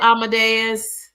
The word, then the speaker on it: Amadeus: Amadeus. Amadeus, like the song line.